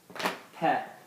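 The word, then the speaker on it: ث: Theh. It sounds like this. That's the sound it gives us. So when we see this word, these two letters, we think of Theh.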